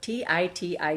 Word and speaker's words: Titi: She pronounced it as Titty Pierce.